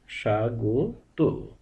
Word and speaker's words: স্বাগত: দিয়ে উচ্চারণ করতে হয় অর্থাৎ শব্দের শুরুর বর্ণের সঙ্গে যদি ব ফলা যুক্ত থাকে তাহলে সেই ব ফলাটি বাদ দিয়ে উচ্চারণ করতে হয় যেমন স্বামী উচ্চারণ হবে স্বামী স্বাধীনতা স্বাধীনতা স্বাগত স্বাগত এভাবে ব ফলা বাদ